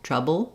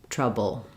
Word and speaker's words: trouble: B trouble bull um my is very short and reduced again because I'm stressing on the TR syllable and my bull is short so again I might have a little bit of an uh sound in there a short reduced schah before my L travel trouble um if